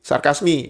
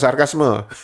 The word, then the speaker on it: sarkasme: Nah, huruf E di belakang eo kalian harus mengucapkannya I. Sarkasmi bukan sarkasme. Kalau kalian mengucapkan sarkasme berarti kalian meniru cara pengucapan Indonesia.